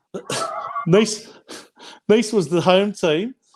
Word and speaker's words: Nice: 12th on the ladder which is i think pronounced breast and niece niece was the home